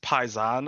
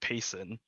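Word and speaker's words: Paysan: is the best of the best it's it's pronounced paisan i thought it was like payson yeah you know you talk to everybody else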